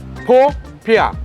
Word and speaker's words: popiah: How would you pronounce it, first of all? Popiah.